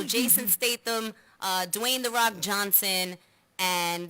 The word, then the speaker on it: Statham: much gonna be Jason I can never pronounce his name state them yeah I pronounced it wrong the last time and I got ridicules so Jason Statham Dwayne the rock Johnson